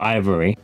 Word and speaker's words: IVRY: Ivory, I think it's pronounced Ivory. It's IVRY with the V and the R as capitalized. So let's go with Ivory.